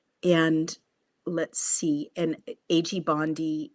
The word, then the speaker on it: Bondi: And in a TikTok video shared Monday, Kelly had goaded Bondi, am I pronouncing her name correctly? Bondi, to arrest him. Pam Bond, it's Bondi.